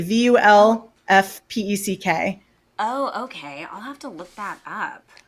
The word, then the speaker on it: Vulfpeck: Is it spelled Wolfpack but pronounced Wolfpack? Wolfpack with a V. Vulfpeck.